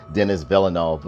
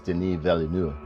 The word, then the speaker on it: Denis Villeneuve: denis villeneuve did and i'm trying to say it in the french way because or like the way it should be pronounced because everybody keeps calling them dennis villanueva or whatever it's denis valeneu like that's the way i see it pronounced because my family speaks